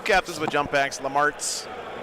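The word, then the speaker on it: Lemartes: 2 captains with jump packs, Lamarts, the Rhymes with Farts.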